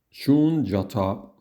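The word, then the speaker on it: शून्यता: En sánscrito, la forma correcta de pronunciarla sería más o menos la siguiente. Shunyata.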